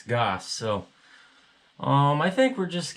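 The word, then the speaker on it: Gass: It's not Gas, I bet, because I know a guy with his name spelled like that, and it's Goss.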